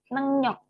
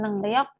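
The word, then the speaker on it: 능력: tes gitu ya kemudian nengyok ini bacanya nenyok Ya teman-teman ya karena ini ada Eng eh Eng ketemu maka rnya dibaca n sehingga Ini nengyok ya Bukan nengriok tapi nengyok ini artinya adalah kemampuan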